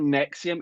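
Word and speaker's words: NXIVM: what that girl from Smallville yeah it's called Nexium I believe it's spelled n x v i m m yeah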